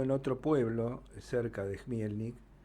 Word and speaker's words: Chmielnik: Se escribe con CH, pero se pronuncia Chmielnik.